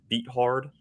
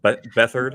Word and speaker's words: Beathard: CJ Beathard. Or Bethard, I believe is how you pronounce it.